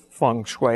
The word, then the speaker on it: feng shui: some questions so what what is feng shui am i saying it correctly you are well if you were chinese you'd say it a little bit differently but feng shui is